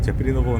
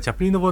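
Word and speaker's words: Chaplinova: Read as Chaprinova Namnesti. This is Charles Chaplin. This CHA is pronounced "ha" in Czech, but since it is a loan word, it follows the English reading.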